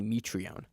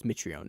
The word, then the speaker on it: Mitrione: patrón patrón Mitrione apparently his name is actually me tree on me tree but he like changed it he changed the pronunciation of it when he started in May